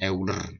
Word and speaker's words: Euler: Tulisannya Euler, bacanya Euler gitu kan.